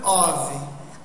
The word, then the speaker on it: of: A cup of, a cup of, a glass of, a glass of. Então esse OF aí do final, ele não tem som de F, ele é OV.